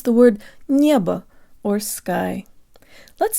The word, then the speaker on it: небо: and protruded Nia Nia there's almost a slight Y sound built in draw